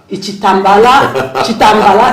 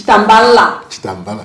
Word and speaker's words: Chitambala: He's already taught me how to pronounce his name because I said Chitambala, it's Chitambala.